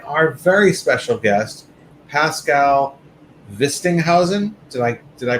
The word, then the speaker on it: Wistinhausen: ash pocket and our very special guest pascal vistinghausen did i did i pronounce that correctly yeah perfect vistinghausen of pk electronics who has made some really